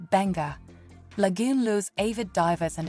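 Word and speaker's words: Beqa: About 144 kilometers southeast of Nadi, off Pacific Harbor, Beka, pronounced Benga, Lagoon lures avid divers and adventure seekers, many of whom come here to experience the Beka Lagoon shark dive.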